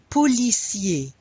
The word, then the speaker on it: policier: Un film policier. Policier. We've seen that the ER often makes the A sound at the end of a word.